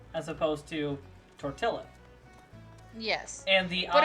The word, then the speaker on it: tortilla: that's borrowed from Spanish the two L's are pronounced more like a y sound so that's where you get tortilla as opposed to Tortilla yes and the uh